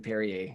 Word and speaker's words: Perrier: do you bounce it I think it's Perrier Perrier reppin my Southern roots I liked them all honestly I liked them all better than Perrier I felt I felt